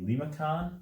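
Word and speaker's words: limaçon: or or this way another one is the lima con at least that's how i pronounce it i don't know if there's a different pronunciation for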